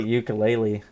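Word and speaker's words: Uiagalelei: the way we think is that how you say his name i just say ukulele um dj you completely like the instrument yeah dj ukulele i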